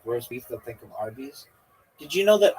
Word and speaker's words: Arby's: Did you know that Arby's, it's spelled ARBY apostrophe S, but it's really like a short for RB, like roast beef? Did you know this? Do you get it? Like RB is roast beef.